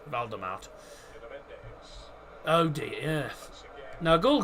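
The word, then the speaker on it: Waldemart: No, it's Valdemart. W-A-L-D-E-M-A-R-T. Valdemart. It's so the W is pronounced V in Germany. So that's why it sounds like Voldemort, but it's not. It's Valdemart.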